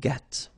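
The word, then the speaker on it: gris: same Noir Noir Okay g don't pronounce the s but then for the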